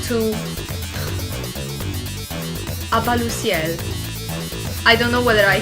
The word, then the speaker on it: À-bas-le-ciel: Does anybody know how to pronounce his YouTube channel? À-bas-le-ciel.